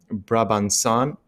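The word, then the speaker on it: Brabançonne: and they're playing the the national anthem right bra banson that's how you pronounce it so that's really awesome so vitali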